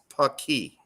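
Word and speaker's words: Paqui: Yeah, And the way you pronounce it is Paki.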